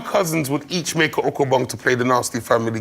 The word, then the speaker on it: ukabong: This is an okobong. Me and my cousins would each make an okobong to play the Nasty family game, okobong.